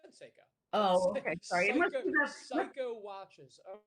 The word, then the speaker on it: Seiko: no go for it how do you pronounce seiko with a long a not psycho oh i i said seiko oh okay sorry psycho